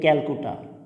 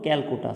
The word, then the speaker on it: Calcutta: কিন্তু ইংরেজিতে লেখা হতো ক্যালকুটা, CALCUTTA। অর্থাৎ ব্রিটিশরা সেই সময় বাংলা ক উচ্চারণ করতে পারতো না, সি দিয়ে তারা উচ্চারণ করতো, এই জন্য সি দিয়ে লেখা ছিল।